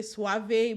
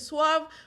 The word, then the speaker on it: suave: unnerving when a Suave some people say Suave but I don't think that's how it's pronounced when it's sve realtor or we say it however you like Perl roll start again